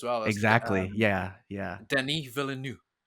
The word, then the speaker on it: Denis Villeneuve: Denis Villeneuve, right? Denis Villeneuve.